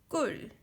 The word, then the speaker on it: 꿀: So first word is 꿀, 꿀, because here is 쌍기역, K, double K, and U is U, and ending consonant 받침 리을이 들어가서 L. So pronunciation is 꿀, 꿀.